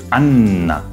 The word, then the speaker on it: Anna: Anna. Genau. Beide N werden ausgesprochen. Im Deutschen hingegen wird das N eher verschluckt.